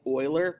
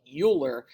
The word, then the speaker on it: Euler: Leonard and this is going to look like Euler but it's actually I'm sorry it's going to look like Euler but it's actually pronounced Euler so one of his students uh